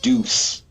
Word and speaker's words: Deus: The sequel is spelled Deus, but it is pronounced Deuce.